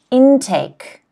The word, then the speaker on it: intake: The next word, intake. Intake. Once again, first syllable.